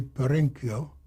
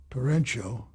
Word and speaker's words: Perenchio: He got a partner named Jerry Perenchio, who introduced himself to me as Perenchio. And you know what I said to the guy? Why are you mispronouncing your name? And Norman says to me, is that all you can say to him? And Perenchio laughed. Perenchio says, well, he's right. It is Perenchio. CH in Italian is never ch, as it is in Spanish.